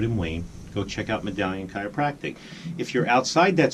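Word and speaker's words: Madalian: ma d al IA n medallion chiropractic it's pronounced medallion but it's spelled ma da Li a and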